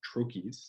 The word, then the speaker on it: trochee: meter is composed of trochees. So that's a stressed syllable followed by an unstressed syllable. Very common English words would include garden, highway, poet. The word trochee is also a trochaic word.